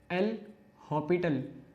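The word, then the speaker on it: L'Hôpital: तो पहले तो जो सही मेजर स्पेलिंग है वो क्या आती है, वो एल हॉपिटल। देखा जाए तो ये हॉस्पिटल की ही वो है, लेकिन एक एस यहाँ पर साइलेंट रखा जाता है, ठीक है।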